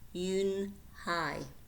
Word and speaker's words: Unhei: "Yes, it's pronounced Yoon-Hai, and it means grace," said Mr.